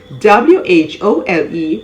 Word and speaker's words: whole: if the word starts with w-h-o as in w-h-o-l-e whole w-h-o-e-e-r however w-h-o w-h-o-l-e-s-o-m-e wholesome silent